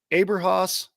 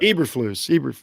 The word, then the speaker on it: Eberflus: I want to say is it Aberhaus? Am I saying that right? I hate to get a guy's name wrong. I think it's Eberflus or something like that. Eberflus.